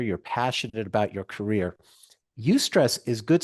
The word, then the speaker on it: eustress: a word called eustress it's spelled e-u-s-t-r-e-s-s you stress and that is good